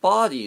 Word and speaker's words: body: So the word body there, if you notice how I say body, right? It's the first syllable is stronger and a little bit higher. And that's sort of the natural rhythm of that word in the language of English.